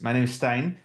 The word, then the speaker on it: Steijn: So like Hilda said, my name is Steijn, pronounced like Einstein.